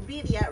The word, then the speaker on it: birria: And then, so birria, real quick. Mm-hmm. Is it, am I saying it right? Birria. Birria. So birria. You have to roll the R.